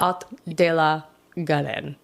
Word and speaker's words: Haut de la Garenne: It's H-A-U-T. But I don't think you pronounce the H when this is unimportant. Haut de la Garenne.